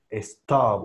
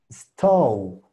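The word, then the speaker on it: stove: Su pronunciación tiene que ser o. Stow. Les digo, hay gente que me lo pronunciaba como stub. Stub. Y hay gente que me ponía aquí la e. Entonces, lo primero es que no es e.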